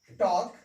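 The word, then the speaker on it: talk: और एम से पहले एल हो, तो उसका उच्चारण नहीं करना है। इसको पढ़ते हैं एम्स, चाक, टॉक, बाम, ठीक है ना।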